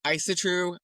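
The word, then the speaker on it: Ásatrú: There's also Isatru. I have seen it pronounced a bunch of different ways. How is it spelled? Asatru. Asatru. Yes. Yes. That's how I say it. Yeah, it's interesting. There's so many different ways to say it.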